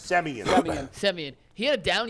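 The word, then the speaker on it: Semien: And I pronounce his last name every time. It's Simeon, correct? Semi. Semian.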